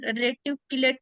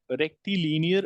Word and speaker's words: rectilinear: straight line is called reticulate motion no no re linear reti linear okay now motion pronounce it again it is rear motion rectilinear motion motion then we have